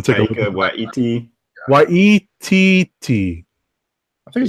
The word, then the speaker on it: Waititi: Thor Ragnarok director Taika Waititi. Yeah. Say it one more time. Taika. I might be mispronouncing his last name. I'm going to take Taika a look. Waititi.